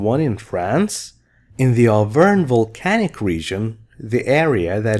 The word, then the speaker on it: Auvergne: Auvergne. G is silent, no G. Auvergne is a region in France.